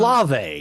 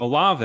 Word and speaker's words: Olave: Am I pronouncing Olive? Olave, excuse me.